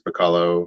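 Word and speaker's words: Bachalo: And then a variant cover of Deadpool #1 from one of the more recent series, but it's Chris Bacallo, or Bacallo is how I pronounce his name.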